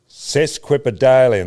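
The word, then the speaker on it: sesquipedalian: Cesquipadalian. That's phonetically.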